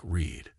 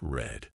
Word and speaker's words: read: is pronounced like read read in the present is pronounced like Reed but in the past it's red but in the past